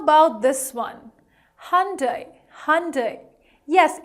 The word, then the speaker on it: Hyundai: But yes, the correct pronunciation is Hyundai, Hyundai.